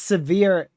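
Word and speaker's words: Sevier: So, not actually severe as in like severe storm, but it's pronounced generally the same.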